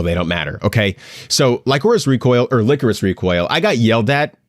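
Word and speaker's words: Lycoris: people online being like, it's pronounced licorice. It's not licorice. It's not like the candy.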